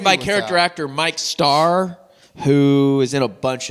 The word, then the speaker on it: Mike Starr: Mike, Mikestarr. Mike Starr. Not Micah Star.